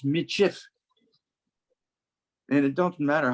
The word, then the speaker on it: Michif: they said metis okay but that was pronounced before people were reading as michif and it doesn't matter